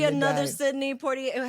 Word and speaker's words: Poitier: Sidney Poitier.